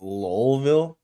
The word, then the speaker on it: Louisville: ] so that was jack harlow told me it's pronounced lolville whatever soulville kentucky wait